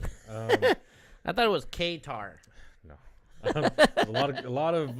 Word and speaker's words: Qatar: Qatar. They Qatar. You got to pronounce it correctly. They don't Qatar. Also, I'm sorry if I mispronounced it. I thought it was Qatar.